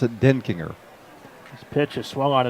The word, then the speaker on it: Denkinger: That's how he told me to pronounce it, Denkinger.